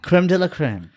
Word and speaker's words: crème de la crème: How do you pronounce it in French? Like crème crop or Creme de la creme. crème de la crème.